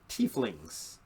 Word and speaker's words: tiefling: And you have your tieflings. I've also heard it pronounced tiefling, but at my table we generally say tiefling.